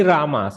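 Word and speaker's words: राम: But Ramaha is Pratama Ekavachana, whereas in vocative case it becomes Rama. Visarga is dropped. Okay, see, Hey Rama, not Hey Ram. Hey Rama. Has to be still pronounced.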